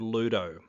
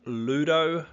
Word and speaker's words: Ludo: is the game called Ludo now it kind of rhymes with clue and that is the